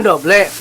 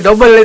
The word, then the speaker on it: Double: Oh doble. Angel men jenenge yo. Iya, angel. Susah. Lambe duple. Kalau orang luar bacanya Lambe Double itu. Padahal doble. Jangan lupa mampir ke channelnya Kang Didin ya, Lambe Double.